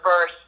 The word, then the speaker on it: Bearse: remembered for is that my last name isn't pronounced that way okay but don't worry everybody in the U.S says it that way too but it's actually verse okay and I'm grateful